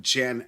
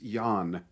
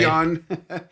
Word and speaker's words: Jan: corrected me I forgot it's not Jan Ackerman it's yawn oh sorry Yon yeah I wasn't familiar